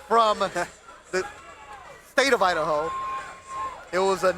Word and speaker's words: Aidahoe: comments interacting with you so his nickname is Idaho it's a family name that his parents gave to him um that's why no he's not from the state of Idaho it was a name that his mom gave